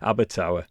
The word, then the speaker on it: Abertawe: I think it's pronounced Abertawe. Oh, right, well, there you go. My son was at Swansea University for 4 years, so that's the only reason I know this. Abertawe, thank you.